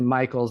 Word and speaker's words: Michels: like charity Michels but it's actually Michaels but it's spelled like Michels so you know forever charity mickels to me all right